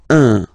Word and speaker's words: un: doubt, but you've got to pronounce it like un. So it's what we call the nasal, so it goes in your nose, okay? So if you listen to me, you don't hear any N, okay?